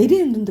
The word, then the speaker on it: 눈: 자, 이렇게 길게 발음 내리는 내리는 눈을 길게 발음하고요.